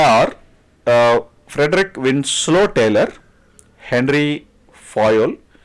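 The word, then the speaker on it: Fayol: Frederick Winslow Taylor Henry Foyle see the pronunciation is little different right so don't worry about the production Henry fail Henry foyel Henry fell right that's something that you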